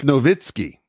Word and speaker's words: Nowitzki: They do not pronounce the V's. They're W's. Kiev? Dirk Nowitzki. It's Nowitzki.